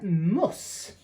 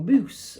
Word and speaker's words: Mus: It's a can of their Muss, or Moose, or M-U-S, I assume it's pronounced Muss.